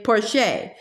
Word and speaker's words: Porcher: She pronounced it the French way, Porcher.